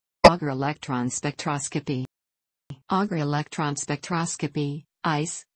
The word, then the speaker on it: Auger: Auger electron spectroscopy, ICE, pronounced in French, is a common analytical technique